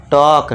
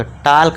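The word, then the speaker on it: talk: और इसे क्या पढ़ेंगे, टॉक, टाल्क मत नहीं पढ़ना, टाल्क नहीं, गलत हो जाएगा, टॉक।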